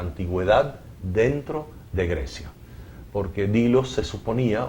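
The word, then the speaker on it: Delos: que él hubiera trabajado en la isla de Dilos, que se escribe del.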